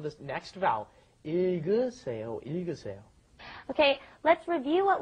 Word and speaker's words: 읽으세요: Yeah, you got a double consonant there again, right? The I sound at the beginning, then it goes to the L, il. It goes in that order, I, and then g, that last G gets moved up in front of the next vowel.